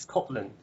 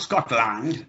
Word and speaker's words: Scotland: much much much better scotland is scotland yeah not scotland it's scotland scotland yes we call this um this sound the schwa as i've said before the most important sound in the english language this is the sound at the beginning of a go and agree i go home yes it's the sound at the end of teacher and computer so how would american